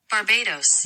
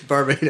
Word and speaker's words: Barbados: Because that's what it sounds like. It's Barbados. And she was actually from there, so she pronounces it Barbados.